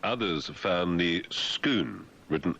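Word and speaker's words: Scone: Some Scots have noted that the lump of red gray sandstone is very much like others found near Skoon, written S C O N E, the ancient capital of the PS pics, 55 kilometers north of Edinburg.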